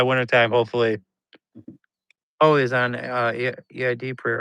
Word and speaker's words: Eid: Always on EID prayer. Right? How do you pronounce that?